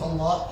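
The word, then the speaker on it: الله: the name of Allah, it finishes with a deep ha, Allah. So when you finish, you don't say Allah, La. Just don't stop on the lam. You should say the ha sound at the end.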